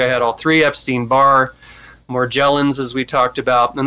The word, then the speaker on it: Morgellons: If you have those three, I had all three, Epstein-Barr, Morgellons, as we talked about, and that is the correct pronunciation, like Morgellons. Morgellons, okay.